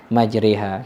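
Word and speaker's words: مجراها: Ketika kata ro dibaca re, ya, sehingga majrohanya dibaca dengan majriha.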